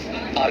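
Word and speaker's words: hour: लिखेंगे | this is आर class आर में एच क्या है साइलेंट आई साहब आ नहीं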